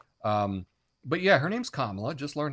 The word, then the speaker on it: Kamala: weird coincidence there um but yeah her name's kamla just learn how to say it it's not hard kamla uh and it does bother me when people